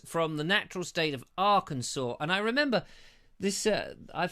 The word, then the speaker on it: Arkansas: It's Arkansas, but I read it, as I often do. I make this mistake. I read it as Arkansas, because, you know, that is how it is spelt. But Arkansas is how it's pronounced.